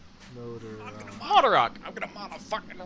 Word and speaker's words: Moldarach: Moldarach. I'm gonna mod a fucking rock into an AK-47 machine gun. Yeah, but when I see CH, so Moldarach. Sometimes CH is just OCK. Like Mach, M-A-C-H.